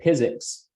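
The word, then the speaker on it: PyZX: of them is called physics it's like pronounced like physics without the h in it um it's a python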